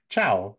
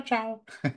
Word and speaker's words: ciao: always loved this one you can kind of say chiao when chiao Steve and that's our hello and then when you're saying goodbye you also could say chiao and if you uh want to say it like a like a cute Italian girl they go cha Chow so that's hello and goodbye